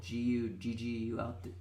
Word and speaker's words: Guggul: And you used our Ayurvedic herb Guggul, Guggul. I pronounced that right?